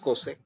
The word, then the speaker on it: csc: of CSC X so CSC is pronounced cosec it's a short form of cosec cosecant and this is uh